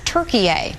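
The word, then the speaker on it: Türkiye: that the country be referred to as turkey a the way it's spelled and pronounced in turkish it's a way to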